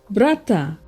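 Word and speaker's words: brata: of Melanesia for example brother is pronounced Bretta enough in app before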